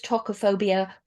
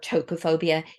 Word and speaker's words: tokophobia: any difference and also sometimes you may hear it um uh pronounces talkophobia or topophobia usually depending on which country you're in so um again they're